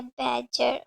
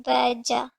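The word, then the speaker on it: badger: इसके आपको दो प्रोनाउंसिएशन मिलेंगे, यूएस और यूके की अलग अलग। यूएस में बैडजर जो लिखा हुआ है जैसे इट इज़ अ वर्ब, लेकिन यूएस प्रोनाउंसिएशन इसकी है बैडजर और यूके में बैजा।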